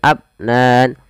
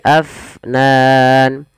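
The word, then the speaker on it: أفنان: Afnan kemudian padafal Fa AF alirkan nafasnya jangan abnan tapi Afnan kita coba ulang daw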